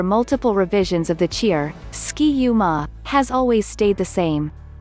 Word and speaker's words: Ski-U-Mah: true definition beyond that the ma at the end of ski-u is only there so then it rhymes with the third syllable of the other third syllables in the cheer namely ra and ta even after multiple revisions